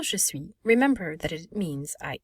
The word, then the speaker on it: je suis: So we would pronounce être, to be, but we will say je suis. Remember, I will make a oui sound, and we do not